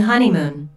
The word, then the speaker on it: honeymoon: does look absolutely beautiful listen to the stress on honeymoon there are three syllables in honeymoon with the stress on the first syllable h o neon this